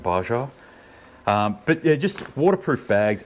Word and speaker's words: Baja: this is called a baja bag or a baja bag some people who don't speak spanish so well pronounce it baja but yeah just waterproof